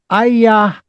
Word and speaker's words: ayahuasca: Now, but there's a name in front of that, and it goes something like AYAHUASCA.